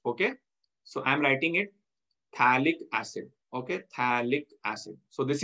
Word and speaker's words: phthalic acid: It is known as phthalic acid. Likhte yahan par P hai, but that P is silent. So this is known as phthalic acid.